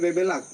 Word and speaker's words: Bebeluck: lak bbela ck nah di generasi terakhir ini genti lagi BBuk tapi tetap bacanya bebelak oke anya-ya ganti U